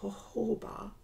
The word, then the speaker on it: jojoba: It's pronounced jojoba, but it's J-O-J-O-B-A, and also like a rose tonic.